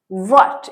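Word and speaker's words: what: बन गया फॉर व्हाट व्हाट इसमें एच थोड़ा सा मतलब साइलेंट मान लो या साउंड बहुत कम आता है क्या लिखें व से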